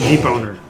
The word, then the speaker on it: debonair: Yeah, you said Swave and Boner, but suave and debonair.